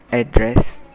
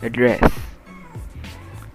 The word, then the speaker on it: address: the eighth example address there are two ways to pronounce this word the first one is address and the second is address so for the first